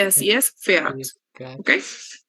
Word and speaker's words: fährt: fährst y sie es fährt, ¿ok? Porque le vamos a colocar una A umlaut y lo vamos a pronunciar como si fuera una E, ¿ok?